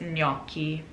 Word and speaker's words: gnocchi: beginning of it so you want to make that ny sound when you pronounce it so it's gnocchi all right the last